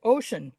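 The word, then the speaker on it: Oisín: but his name is Ocean or Oisin. I don't know how you pronounce that. In Celtic, it's ocean, but if you say ocean, you hear like something else. So it's spelled Oisin.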